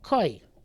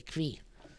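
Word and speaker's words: כוי: Koi. So when I was younger, I used to say kvi, but I think the proper pronunciation is koi, and the article which has the nukudos tells us proper pronunciation is koi.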